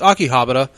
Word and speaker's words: Akihabara: I've heard it pronounced Akihabara. It's Akihabara.